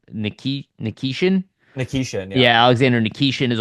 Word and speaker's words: Nikishin: Nikishin, yeah.